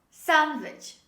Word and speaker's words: sandwich: this is sandwich sandwich when you drop the letter d when you say this word it becomes much easier to pronounce this word because it's easier for your tongue and for your articulation to pronounce two consonants instead of three consonants together so the correct pronunciation of this word is sandwich sandwich say with me sandwich